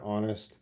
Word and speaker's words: honest: guys an agree good H is silent the H is silent so we don't want to say the age so knowing that Arash